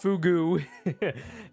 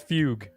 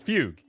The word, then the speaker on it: fugue: It's not fugu. I think it's fugue. Yeah, it's Fugue, right? Yeah, I said that at the same time as SPF sent that message. I'm pretty sure it's Fugue.